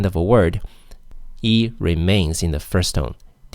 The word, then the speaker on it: 一: next is yeah it's e John E John because what follows e is a first tone so e remains in the fourth tone e e how about 11 how do you say 11.